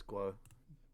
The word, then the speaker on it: Guo: i pronouncing it right is it guo was it g o uh it's guo okay sheffield sheffield subs